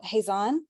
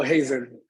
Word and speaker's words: Hazen: hurt and I'm sorry your name hazon is that how you pronounce it oh Hazen Hazen Hazen appreciate that um yeah